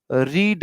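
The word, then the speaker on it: read: तो आप बोलोगे जी शी हैज़ ना लगा के ही हैज़ ना लगा के he will have रीड रेड रेड spelling वही रहती है प्रोनंसिएशन बदल जाता है।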